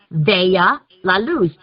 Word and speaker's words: Vea la Luz: Americans, when they see that, they pronounce it correctly. Vea la Luz.